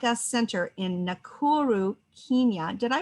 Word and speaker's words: Nakuru: her flagship project women like us center in nakuru kenya did i pronounce that correctly you did okay has changed